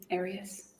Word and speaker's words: Arias: I say Arias, as does the rest of my family.